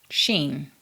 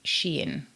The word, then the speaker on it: Shein: How do you pronounce that? It's a Chinese company, is it? So, it's probably going to be Shien. I should have checked that before filming, shouldn't I? But never mind. I've been to China. I'm pretty sure it's pronounced sheen. Shien.